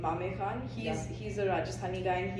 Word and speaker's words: Mame Khan: Okay, there's a guy called Mame Khan. I think that's how you say his name, Mame Khan.